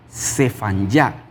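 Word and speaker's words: צפניה: ¿Cómo se dice el nombre de Sofonías en el hebreo? Se dice, se dicefanyá. Sefanyá es el nombre de Sofonías en el texto hebreo.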